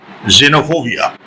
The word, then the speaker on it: xenophobia: n o p h o b i a xenophobia the pronunciation is xenophobia my my friend is uh